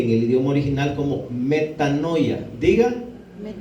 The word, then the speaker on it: metanoia: palabra que utilizó el apóstol para escribir eso se escribe en el idioma original como metanoia diga metanoia y quiere decir un cambio de mente mente